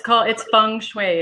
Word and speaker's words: feng shui: Feng shui? Am I saying it right? Yeah, it's feng shui is what it is. I was right. You were right. Yeah, okay. Feng shui.